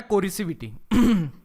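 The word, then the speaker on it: coercivity: तो इसे पढ़ाता है कोरिसिविटी।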